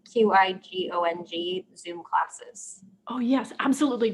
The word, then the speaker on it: qigong: She's wondering if you wouldn't mind repeating the information about, and I'm not going to pronounce this correctly, QIGONG Zoom classes.